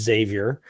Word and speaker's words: Xavier: would professor Professor Xavier who I will say through correct pronunciations and despite what Stanley says his name is Xavier would would he say